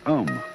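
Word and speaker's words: AUM: mantras is of course the sound own that sound is used because you spell it out a um it runs from the back of your throat to your lips and therefore it contains the whole range of the voice and for that reason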